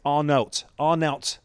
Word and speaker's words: Arnout: But it's Arnout with a T on the end, Arnout Danjuma.